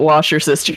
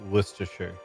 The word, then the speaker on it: Worcestershire: it looked amazing but he did call it washer sister sauce and I fell out of bed traumatized a great flavor that I don't think the South uses enough but yes he called it wash your sisters by the way it's pronounced Worcestershire I used